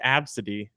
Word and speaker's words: Abcde: It's pronounced Absidy, but it's spelled ABCDE.